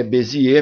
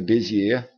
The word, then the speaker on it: Bézier: o Pierre eti bez a pronúncia da palavra é Bezi mesmo tem gente que chama de bezier de bezier também chama de bezer beir e beser também mas a pronúncia correta é beier E se a gente